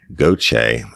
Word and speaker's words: Gauthier: Brittany Gauche, and I know how to say that because I'm from South Louisiana. It's spelled Gauthier.